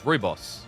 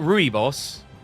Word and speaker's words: rooibos: Rooibos? Why is that's how you pronounce it? It's rooibos. It's not rooibos. Rooibos. You want Roy? You need more roll on the R?